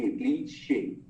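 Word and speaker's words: cliché: जैसे क्लीशे, ये वर्ड सुना है आपने? तो उसका जो आखिरी E है ना, it has that slant folio, so it's pronounced as A, क्लीशे.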